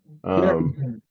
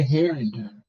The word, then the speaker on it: Harlingen: I say Harrington, but I don't know how it's spelled. He's got it spelled Har, which would be Har, Lingen, Harlingen. He's Harlingen, yeah. bunch it all together.